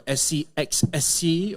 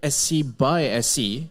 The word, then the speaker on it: SCxSC: uh some may ask whether it stands for scxc or SC by SC so the the actual pronunciation is actually SC by SC is an acronym that stands for synergistic collaboration